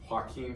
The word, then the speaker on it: Joaquin: I thought that Joaquin Phoenix, let's say it right, Joaquin Phoenix, in his portrayal of Arthur Flick, aka